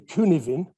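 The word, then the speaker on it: Cynefin: map it's a it's it's called the kuniwin framework it's spelt strangely because it's a welsh word and it means roughly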